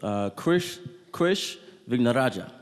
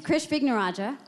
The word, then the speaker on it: Krish Vignarajah: So we're going to begin with Krish Vignarajah. Well done. Great pronunciation. Thank you. So my name is Krish Vignarajah.